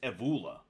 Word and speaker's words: Evola: It bothers me that I still don't know how to pronounce his name. Actually, it's Evola.